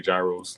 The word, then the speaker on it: gyros: gyros like the heroes i think it's it's pronounced heroes but i say gyros like that's too bro